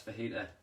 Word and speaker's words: fajita: So for our fajita, no, it's fajita. The J is silent.